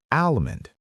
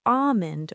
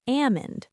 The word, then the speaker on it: almond: A lot of people say almond, but the correct pronunciation is almond or ammon. And yes, once again, the L is silent.